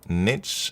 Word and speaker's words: niche: Look, the word niche has two common accepted pronunciations. Niche rhymes with sheish, common in UK, French influence, and niche rhymes with pitch, historically American, still common.